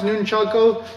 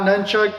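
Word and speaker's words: nunchaku: you know it's pronounced nunchako not nunchuck that's the Americanized version and you see them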